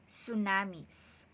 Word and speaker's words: tsunami: so our new lesson for today is about tsunamis so we read or we read it as